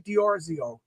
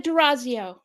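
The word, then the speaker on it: D'Orazio: I'm here with dioro did I say your name right I always mispronounce names oh no it's okay it's a derazio derazio i why should today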